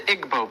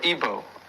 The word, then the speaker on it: Igbo: Another area in Africa, you have uh something big happening is in Nigeria, you have the Igbo people or Ibo, pronounced either way.